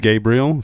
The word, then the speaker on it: Gabriel: And my name If is you don't- pronounced Gabriel.